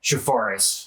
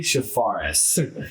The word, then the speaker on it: Charfauros: Chafaris. It's been my whole life. Uncle Sailor, don't feel bad. Shafares.